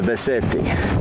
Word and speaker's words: Beceite: This is the Beceite. Yep, I'm saying it right in Spanish. Beceite.